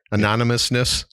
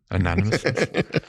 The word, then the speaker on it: anonymousness: I pronounce that right anonymousness anonymousness man it's like saying cinnamon oh I got it